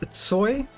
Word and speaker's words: Tsoy: Believe it or not, that's pronounced Tsoi.